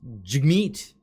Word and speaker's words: Jagmeet: I've said his name before, and people will correct me. It's pronounced Jagmeet.